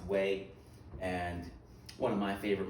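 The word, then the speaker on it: Huế: the whole Tet Offensive is this place called Wayne City I know it spelled hu e q right but in Vietnam is pronounced way and one of my favorite movies full-metal-jacket the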